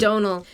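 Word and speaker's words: Domhnall: or Donal is it Donal rhymes with tonal okay right even though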